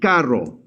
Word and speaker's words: carro: So this is going to be carro. Try to say carro. Carro. Carro. Carro. Oh, cool. All right, now let's compare the two. This is caro, and this is carro.